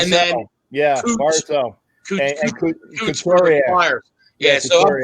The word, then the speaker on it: Barzal: Brazil for the how they pronounce it? Barzell. And then Barzell.